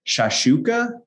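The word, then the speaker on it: shakshuka: Shashuka?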